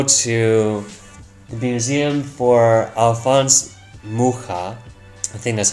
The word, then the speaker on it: Mucha: So I'm not big into museums, but I did go to the museum for Alphonse Mucha. I think that's how you pronounce his name. Mucha?